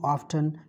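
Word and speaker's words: often: डू यू ऑफ्टन या ऑफन भी पढ़ लेते हैं इसको।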